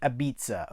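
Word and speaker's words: apizza: for the town's beloved aizza uh oh it is pronounced abza okay who does The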